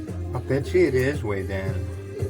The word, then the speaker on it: Vedan: I bet you it is Wei Dan. So if you wonder, Wei Dan, I've never heard of that. It's actually spelled like we would say it, Vedan, V-E-D-A-N.